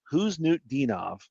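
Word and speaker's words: Khusnutdinov: Who's New Dinov is how you say it.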